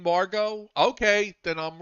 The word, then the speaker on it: Margot: you've been saying that's m-a-r-g-o-t but what do the woman who played Lois Lane yeah we everybody calls her Margot Kidder even though she spells it m-a-r-g-o-t right but I know